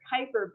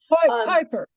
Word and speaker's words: Kuiper: Shireen asks, and I don't know how I always said it was the Kuiper belt, but you pronounced it different. Kuiper.